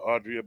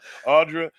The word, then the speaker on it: Audra: I want to call her Audrey so bad because of the way it's spelled. Audra and Marty will be